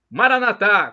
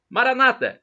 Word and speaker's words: Maranata: Maranatá, como dizemos nós católicos, com a tônica na última sílaba. Ou Maranata, como dizem nossos irmãos separados, os evangélicos ou protestantes, com a tônica na penúltima sílaba.